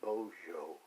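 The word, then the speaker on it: Bozo: Uh it was a Bojo. Uh, it's B O Z O. Uh, but it's pronounced as if it was B O Z H O Bojo.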